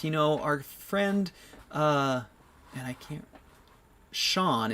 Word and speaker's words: Sjang: Sean is how you pronounce his name, but it's spelled S-J-A-N-G.